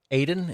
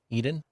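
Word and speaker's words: Edan: I think that's this kid, Aiden. Is that how you say his name? Aiden. Eden. Um, when they say it, it sounds like Elon. So, Edon, I think, is what it is.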